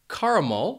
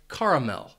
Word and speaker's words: caramel: First, you should know that the word has 3 syllables and the stress is on that first syllable. That second syllable is going to have a schwa sound, and that final syllable is where you might hear a different pronunciation. People might say caramel, and that mul is that third syllable, or you might hear people say caramel and mel. So it's a difference between mul and mel.